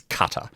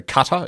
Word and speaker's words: Qatar: to be preferred is cutter. So think of it as like a box cutter is the closest sort of thing. So cutter is the one we're going with.